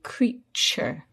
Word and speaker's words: creature: But the t is not pronounced t as in to. It's pronounced ch like in cheese. So we say creature.